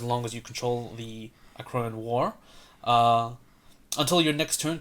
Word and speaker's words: Akroan: So yeah, Akroan War. Okay. As in the Akroan horse.